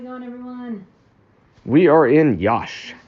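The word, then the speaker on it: Iași: We are in Yash. Yash is actually IASI. Mm-hmm. So I guess S and I is pronounced shush, like shush.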